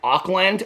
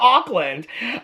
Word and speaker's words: Auckland: Now I gotta look up how do you pronounce Auckland. It's not Auckland. And so many people from my videos from Auckland, I pronounce everything wrong. Okay, Auckland pronunciation. Oh, here's this lady with her lips again. You can't see it, I know. Let's see it. Oh, I got the volume turned down again. Auckland. It says Auckland.